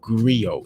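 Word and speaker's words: griot: learning from lessons uh have you ever heard of a phrase or term or word called Grio it's spelled g-r-i-o-t-s Grio um Dave Chappelle calls himself agrio and these are people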